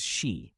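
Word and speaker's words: し: It shares the same pronunciation as shi, the word for death, and is often avoided out of superstition.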